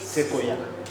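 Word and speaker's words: séquoia: Et c'est la rouette de l'on appelle pap ça alors ça s'écrit mais ça se prononce seoya et le seoya c'est ça le plus gros arbre aussi au monde.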